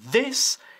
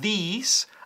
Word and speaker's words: this: This y Thursday. La I latina de this es muy corta. Yeah? This, not these.